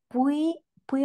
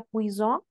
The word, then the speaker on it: puis: empezar on con vocal, ¿no sería una liaison? Oui. Y no se pronunciaría puison. Et puis en arrivant, euh, no, no, porque este puis siempre va a ser puis, sí, incluso con Ah, S.